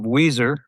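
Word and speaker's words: Weiser: area of Idaho and it is not spelled like the band Weezer, which happens to be one of my favorite bands. It's spelled a bit differently than that.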